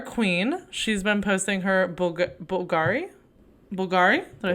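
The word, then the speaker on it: Bvlgari: You can't say Bulgari. It's Bulgari.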